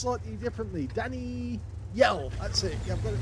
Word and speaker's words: danijjjel: Roba this one is under the command of Danny yel yes I've actually found out that it's actually pronounced slightly differently Danny yell that's it I've got it right now okay